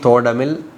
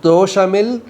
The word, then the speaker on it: தோடமில்: Generally Tamil they will read தோடமில் நீ அகத்தோடு ஒன்றி சந்தோடம் ஒன்றிட அருள். But it will not make sense easily. That is the way it should be pronounced, but the meaning will not come out easily. But if you read it தோஷமில் நீ அகத்தோடு ஒன்றி சந்தோஷம் ஒன்றிட அருள் Arunachal, meaning will easily come.